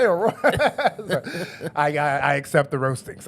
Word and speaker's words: Aurora: I got a lot of because one time I pronounced Aurora. Yeah, I went Auroro. You said Auroro.